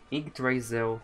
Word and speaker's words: Yggdrasil: I have run seeing how do you pronounce it? Yggdrasil.